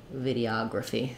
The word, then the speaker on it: videography: syllable stress vidi o when we go to videography it's the same pattern of vidi ah Gra coffee sorry gra fee videography so stressing on the second third to last syllable the ah of Photography